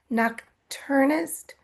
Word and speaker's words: nocturnist: Nocturnist.